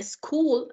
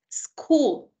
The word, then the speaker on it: school: Entonces, en este caso, cuando nosotros decimos a school, a student, nosotros no estamos pronunciando otra palabra, sino que es el mismo sonido de la S. Recordemos, S. Ese es el sonido de la S. Student, school.